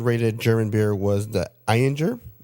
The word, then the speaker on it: Ayinger: The number 1 rated German beer was the Eyinger. It's spelled Ayinger.